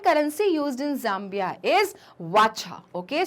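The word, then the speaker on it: Kwacha: Okay, so Zambia, Lusaka and currency used in Zambia is वाचा. Okay, सो के is silent, it's वाचा.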